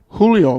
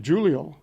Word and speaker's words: Julio: Matthew they call it I have pronounced it in the past Julio but they call it they pronounce it Giulio a nice pass by